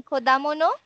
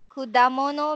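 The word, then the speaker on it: 果物: Ah, okay, you mean kodamono? Vikramu-san? Kudamono means fruit.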